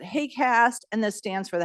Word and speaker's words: HAQAST: terms of you know the haq acronym we pronounce it hay cast and this stands for